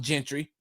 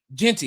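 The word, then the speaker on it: Jeanty: And so with all the eyes on Boise State, all the eyes on Gentry. Did I pronounce his name right? Genty, excuse me.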